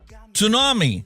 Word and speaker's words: tsunami: Tsunami, the T is silent.